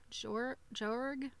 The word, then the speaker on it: Joerg: So, the person that made this for the book is called Faye Jorg. Her last name is spelled Joerg.